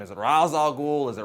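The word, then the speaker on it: Ra's al Ghul: ghoul though people are always arguing how you pronounce his name is it razal ghoul is it Ral ghoul well I'm going to put that argument to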